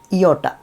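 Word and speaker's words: ιώτα: ഇത് ഇയോട്ട, ഇയോട്ട, ഇയോട്ട. അതായത് ഐ എന്നുള്ള സൗണ്ടാണ്. അതിനൊരു ഉദാഹരണം പറയുകയാണെങ്കിൽ the machine എന്നുള്ളതിലെ I, machine എന്നുള്ളതിലെ ഐ ആണിത്. ഇയോട്ട, ഇയോട്ട എന്നാണ് പറയുന്നത്.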